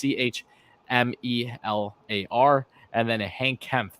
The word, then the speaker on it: Chmelar: Yaroslav Chemelar. I'm pronouncing his name wrong. I'm sure it's Chmelar, and then a Hank Kempf, the defenseman, to finish off the draft.